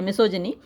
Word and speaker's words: misogyny: Gynaecologist होता है जो औरतों की इलाज करता है, तो जो ये जो गायनी है, हालांकि यहाँ पे इसका प्रोनाउंसिएशन जिनी है, मिसोजिनी। तो औरतों के खिलाफ जो सोच होती है वो मिसोजिनी कहलाती है।